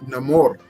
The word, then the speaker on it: Namor: is the top 10 Namor Comics you should check out now maybe it's no more if you're going based off of the pronunciation in the film uh suffices to say